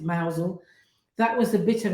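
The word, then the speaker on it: Mousehole: mouse or not Mouse it looks like mouse hole but I think you pronounce it mousel that was a bit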